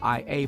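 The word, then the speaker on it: Oia: So he dropped us off and we walked the area of Ia. It's spelled O I A but pronounced Ia.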